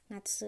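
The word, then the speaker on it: なつ: bacanya nafsu-nafsu itu adalah musim panas Jadi ini bacanya nafsu ya Natsu ini aku deketin deh nah ini ini adalah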